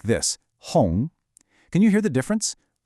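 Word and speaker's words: 红: The correct way to say it is hong, second tone. Listen to how my voice goes up.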